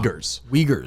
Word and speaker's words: Uyghurs: Yeah, how do you pronounce it? I always get it wrong. Uyghurs.